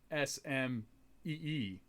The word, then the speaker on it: SM-33: So if you spell that out, it looks like SMEE. Really? It's supposed to be Smee.